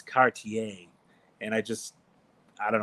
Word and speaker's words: Cartier: the top trim package for me is the Cartier and I know I pronounce it wrong because everybody lights up my comment section. It's Cartier.